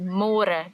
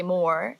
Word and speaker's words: môre: It's a little bit easier, but you have to remember to read môre, because in English it's spelled like more. So don't say more, say môre. And the older generations of Afrikaans people, they might say it a little bit differently, and